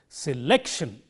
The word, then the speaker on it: selection: the others so you say it like this selection can you hear that the syllable lake is highlighted here it is made